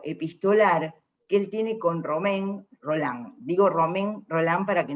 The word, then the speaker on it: Romain Rolland: partir del vínculo epistolar que él tiene con romain rolland digo romain rolland para que no quede arroz